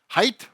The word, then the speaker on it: height: our height difference, - Height or heighth? - You said it right!